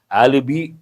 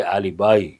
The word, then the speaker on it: alibi: And people mispronounce alibi. No, not correct. We have to say alibi.